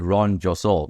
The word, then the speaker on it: Ron Josol: your name right though I mean I said Ron josol yeah that's that's correctly pronounced correct 100% Okay cool so so you